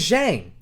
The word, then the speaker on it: Zhang: Her last name is Zhang.